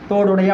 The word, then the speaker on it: தோடுடைய: தோடுடைய அப்படி முடிக்கிறதில்ல. தோங்கிறது 2 மாத்திரை.